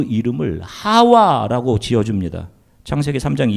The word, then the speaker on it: 하와: 되 믿어라 아멘 보세요 하와는 히브리어 식 발음이 고 2분은 하와의 헬라 오직 표기입니다 하와이 부 똑같은 말이에요 자 이 이름의 뜻은